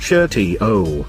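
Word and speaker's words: Kyaiktiyo: in Southeast Asia Golden Rock officially known as Chi actio pronounced sure tio attracts visitors and religious pilgrims to trek to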